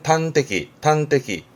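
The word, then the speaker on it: 端的: 그래서 단적이란 말을 하는데 발음은 탄테키.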